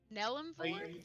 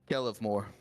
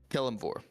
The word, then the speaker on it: Kelemvor: Nellemvor? You don't have any lips, dear. You need to pronounce. Yeah. No vocal cords either, so it's a little. You Yeah. need to enunciate. Kelemvor. Kelemvor.